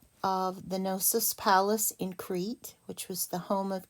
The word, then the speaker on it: Crete: is a place and it is pronounced exactly the way it looks it's one syllable have a silent e over here this is crete so you have uh